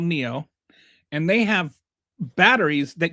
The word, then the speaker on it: NIO: It's not like Neo or something like that, but pronounced like Neo, like the guy from Matrix. But they have a car company called NIO, and they have batteries that you can swap out.